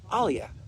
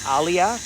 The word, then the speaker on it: aliyah: So that's what we're doing here is we're doing this um aliyah return center. You can check it. I spell it aliyah.